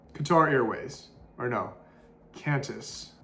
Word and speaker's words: Qantas: Qatar Airways, or no, Qantas. Actually, that's not how you say it. Somebody's gonna fry me in the comment section. Quintus. I think something like that.